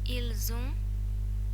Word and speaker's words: ils ont: However, if the last letter is a silent consonant and the following word starts with a vowel, then the normally silent consonant is pronounced.